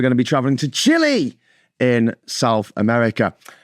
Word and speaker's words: Chile: Today we're going to be traveling to Chile in South America. Or Chile, I should say Chile. It looks like child. That's the thing, it looks like the word child.